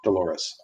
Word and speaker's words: Dolores: was her name Dolores Dolores rhymes with Horace boobies I can